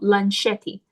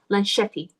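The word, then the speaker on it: Lunchetti: from this newborn uh uh sketchbook company called Lan Shetty. So, it's spelled like lunch. L U N C H E T T I. Lan Shetty.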